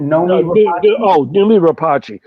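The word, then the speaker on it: Noomi Rapace: It's Rooney how do you pronounce it? Numi Rapace.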